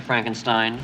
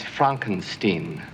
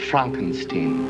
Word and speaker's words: Frankenstein: Frankenstein. That's Frankenstein. I beg your pardon? My name. It's pronounced Frankenstein.